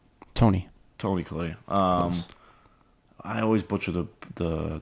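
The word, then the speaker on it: Toni Collette: Mark Ruffalo, Tori Collette, right? Tony Collette. Close. I always butcher the director's name.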